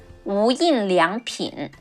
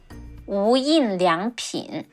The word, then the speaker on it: 无印良品: In Chinese, it's pronounced as 无印良品. 无印良品.